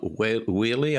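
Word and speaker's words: Wehle: i read um kim wheely i believe pronounce her name w-e-h-l-e uh in the bulwark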